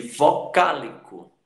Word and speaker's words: vocálico: Então, você vê aí ética, ética, música, música e vocálico, vocálico, vocálico.